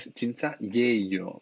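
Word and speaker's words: 진짜예요: Está mal escrito, ¿eh? Sería chincha yeyo, pero sí que se puede pronunciar así, chincha yeyo.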